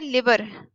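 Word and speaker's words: lever: इसको आपने प्रोनाउंस बहुत अच्छे से करना है. एक होता है लिवर. लिवर is present in our body. हमारी बॉडी का ऑर्गन है. This is लीवर.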